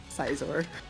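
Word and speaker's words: Scizor: How do you say it? Sizor. Sizor. Yeah. Like, that's how it's written, you know?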